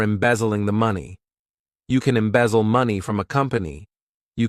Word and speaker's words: embezzle: To embezzle, this verb has 3 syllables, and the stress is on that second syllable.